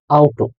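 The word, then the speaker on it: Auto: আ উ এ ও একত্রে আউট।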